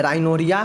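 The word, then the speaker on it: rhinorrhea: इसको ध्यान से दीजिए, देखिए यहाँ पे तो जो नाक बहना होता है वो यहाँ पे देखिए राइनोरिया होता है, H साइलेंट है।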